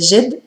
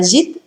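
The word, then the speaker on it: جد: Algunos pronunciarán algo más parecido a jid y otros pronunciarán algo más parecido a jed, pero será prácticamente la misma palabra para todos.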